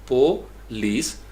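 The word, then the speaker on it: police: अब स्पेलिंग कोई डिफरेंट है, आवाज़ क्या है, PUH, यानी आप PUH के साथ इसको करेंगे प, और लीस के लिए LEES, तो दरमियान में आपकी डैश है, यानी ये दो सिलेबल हो गए।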